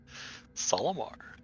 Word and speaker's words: Solomar: It's spelled like Olimar, but with an S. Solomar.